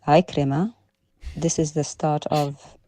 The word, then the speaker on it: Ikrima: And he mentions here, what do you call it, about a hadith from an Akrama. It's Ikrima.